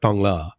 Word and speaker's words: Thong Lor: We were over in the Tonglo area. And if you see that written, it's spelled Thong Lor, Lor, but it's pronounced Thong La.